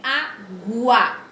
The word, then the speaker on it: água: Diferente de água. Quando eu falo água, o U, vocês estão observando o som do U? A pronúncia do U?